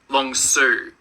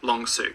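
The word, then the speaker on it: Long Sault: oh hold on everyone's yelling at me it's pronounced long Su long suo right long suo got it thank you the long suo Parkway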